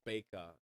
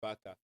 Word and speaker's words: Baker: It's Baker, Louis Baker. You Yeah. know, sometimes the way it's A over it's B A. You may think it's a Baka because from where I'm coming, we'll pronounce it Baka.